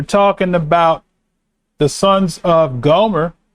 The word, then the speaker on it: Gomer: word there it's pronounced gomer the r you roll the r gomer okay the sons of